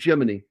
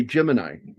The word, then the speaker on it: Gemini: I I've started calling it Jiminy because a couple of the astronauts pronounced it that way and that's how I say it too. But Americans typically say Gemini.